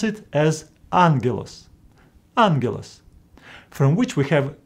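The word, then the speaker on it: ἄγγελος: them as GG G Greeks came with a solution to pronounce the first gamma as n for example in this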